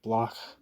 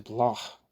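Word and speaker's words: Bloch: to block for instance sorry I'm trying to do the German pronunciation block for instance angles concedes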